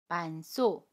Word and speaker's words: 많소: ‘많소’ is pronounced as .